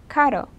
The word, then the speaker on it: caro: But for example, the word for expensive in Spanish is caro. The word for car in Spanish is carro. So it would be kind of hard if you said caro and you meant carro.